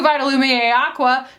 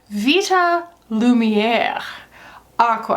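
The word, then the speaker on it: Vita Lumière Aqua: I get the new vital Lumiere Aqua no I'm sorry Vita Lumiere Aqua I need to learn how to say it properly Aqua I'm getting that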